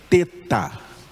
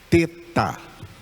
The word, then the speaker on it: teta: hebraico é a letra teta. Teta. Teta. Eu já vi pessoas falando teta, mas a pronúncia correta no grego é teta, mesmo o nome dessa letra é a letra teta.